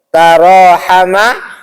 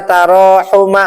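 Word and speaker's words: تراحم: Tidak mungkin dibaca taawina atau tarasila ya atau dibaca tarahuma. Enggak. Semua wazannya tafa'ala gitu ya.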